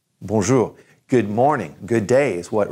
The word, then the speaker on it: bonjour: all the time I know you've heard it Bonjour Bonjour good morning good days what we're really saying